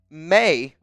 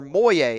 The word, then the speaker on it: Moye: It's pronounced May or Moye, as in boy. No big deal, though. Everyone says it that way. So, a.k.a. Moye. Moy. Is it Moy? Like boy.